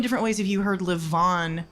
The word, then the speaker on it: LeVaughn: am here with co-owner, yeah, Justin LeVaughn.